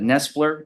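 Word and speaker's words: Knestler: Uh, in a somewhat of a a gray area, but Nestler, uh, that's spelled with a KN E S Per versus State 314th Southern Third 287.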